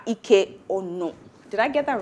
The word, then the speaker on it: Ike-Onu: The correct pronunciation is. That you got right. Ike-Onu. Okay, not So Onu, it's Onu.